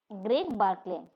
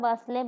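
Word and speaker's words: Greg Barclay: গ্রেগ বার্কলে। গ্রেগ বার্কলে, তার নাম হচ্ছে গ্রেগ বার্কলে বলতে হবে, বাসলে বলতে পারো না, আমার মনে হয় বার্কলে।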